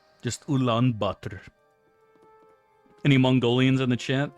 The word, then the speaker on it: Ulaanbaatar: It's like that there tea, that oolong tea, and then you just throw the word butter after it. It's like oolong butter.